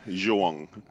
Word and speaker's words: João: Joao. It's Portuguese for John. For John. How do you pronounce it in English? It's João. I'm not gonna.